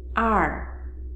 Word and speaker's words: 二: Second character, r. Fourth tone, r, r, r.